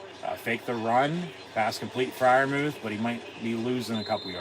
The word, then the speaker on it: Freiermuth: So if you heard the starting lineup when the guys say their own name, he says Pat Freiermuth, the U in there. But our fans say, ooh, Freiermuth, right?